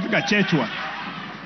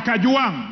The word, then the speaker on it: Kajwang: Speaker, first of all, pronounce my name properly. I'm not Kachechwa. I am Kajwang, not Kanjwang.